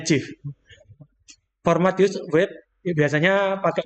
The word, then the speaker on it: GIF: Oh, GIF bacanya GIF.